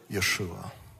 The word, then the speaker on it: Yeshua: that y Shin V a anybody want to pronounce that for me Yeshua now many years ago government of Israel decided